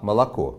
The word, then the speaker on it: молоко: же буквой произносятся по-разному например возьмем слово молоко в нем три буквы о но только последнее произносится именно как О а первая и вторая буква вы произносится иначе но не скорее похоже на а молоко говорим мы по-русски они молоко Это было